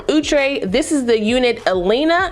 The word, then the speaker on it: Elina: this is the unit elena i think that's how you say it e-l-i-n-a i got her